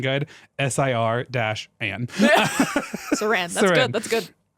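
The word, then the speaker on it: Séranne: Are you asking how to spell it? S-E with an accent, R-A-N-N-E. Saran.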